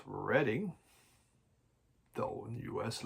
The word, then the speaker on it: Reading: We would say Reading, but it is pronounced Reading.